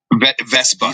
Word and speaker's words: Vespa: I don't even know what the hell a hoopy vesta is. Vesa scooter.